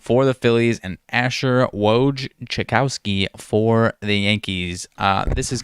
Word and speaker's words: Wojciechowski: I believe that's very similar to Adrian Wojnarowski, so I guess it's not totally the same.